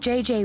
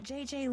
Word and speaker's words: Gigi: be I don't know JJ Ling you mean Gigi Ling no I mean JJ Gigi JJ you pronounce g like J and J like G she may very well